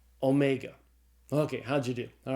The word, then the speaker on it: omega: And so the omega is pronounced as a long O sound as in the English word tone.